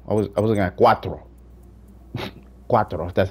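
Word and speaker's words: Quattro: Cuatro, that's how you say it.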